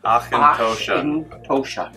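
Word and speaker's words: Auchentoshan: It's pronounced Achintoshan.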